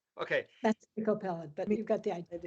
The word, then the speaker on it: Miko Peled: That's Miko Peled, but you've got the idea.